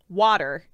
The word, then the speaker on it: water: in that situation right water definitely turn the tea into a D can absolutely admit that